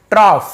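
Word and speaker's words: trough: देखिए इसका actual pronunciation क्या होता है, टॉफ, ट्रॉफ, फ टाइप से। जैसे कफ होता है ना, कफ, रफ, टफ, तो वहां पे हम क्या देखते हैं, फ ध्वनि निकलता है।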